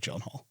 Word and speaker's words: Gyllenhaal: It's pronounced Gyllenhaal.